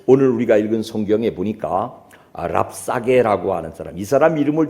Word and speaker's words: 랍사게: 우리가 읽은 성경에 보니까 랍사게 아고 하는 사람이 사람 이름을 좀 외워 두세요 랍사게 잽싸게 약삭 빠르게 뭐 그런 뜻인 거 같아 그 이름 발음이 랍사게 아는 사람이 나오는데 말을